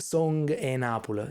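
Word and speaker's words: Song 'e Napule: It's called Song e Napoli. Song is spelled like song, like a song.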